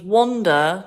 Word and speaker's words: wander: cruel couple of words because wander, to walk around, is spelt with a WA and looks like it should be wander. And wonder, like thinking about something, is WONDER, which looks like wander.